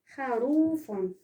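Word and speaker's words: خروف: Et le dernier exemple, c'est le mot kharoufon. un mot qui se termine ou bien finit par le fa. Kha, rou, fon. Le syllabe fon, il est à la fin du mot.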